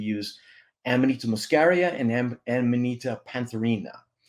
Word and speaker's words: pantherina: amonita muscaria and amonita pantherina I'll try to say that fast a couple times Cina am I saying that right yeah you're saying it right yeah so those are